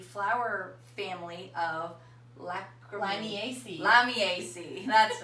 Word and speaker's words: Lamiaceae: found in the flower family of Miami AC lamiaceae that's right la vie AC I we looked it up how to pronounce it yeah so the AC family and